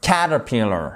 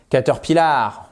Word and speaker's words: caterpillar: Caterpillar OK, c'est pas caterpillar non caterpillar. Vous voyez ici que vous avez une apostrophe qui nous indique que l'accentonique se fait sur cette première syllabe.